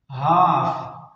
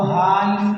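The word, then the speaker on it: half: का माना है पुरसकून हाफ हाफ अब यहां पर एफ से पहले एल आया हुआ है तो ये एल भी साइलेंट यानी खामोश है एल को नहीं पढ़ेंगे इसको हाल नहीं पढ़ेंगे बल्कि इसको पढ़ेंगे हाफ हाफ का माना है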